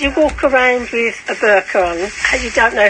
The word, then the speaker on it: burqa: Should Boris Johnson be forced to live in a pillar box for a month after his comments about the burqa? That's how it's pronounced, guys.